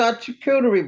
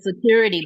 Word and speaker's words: charcuterie: I used to call it security board because I couldn't pronounce That's what I said. charcuterie.